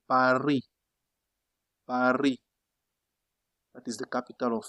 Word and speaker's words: Paris: For example, they don't say Paris. They don't say Paris. That is not correct for you. Say what? Par. Since you have a vowel here, drop this one in your mind. Just say par.